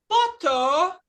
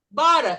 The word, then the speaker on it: butter: Bara, que os gringos da Europa falam butter, butter, mas nós não vamos misturar, nós somos hoje no inglês americano. Bara é manteiga e fly é o verbo voar.